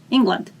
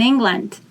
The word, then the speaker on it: England: deutschland deutschland english land england you pronounce ng the same way as you pronounce it in the word morning it's a nasal m eng land england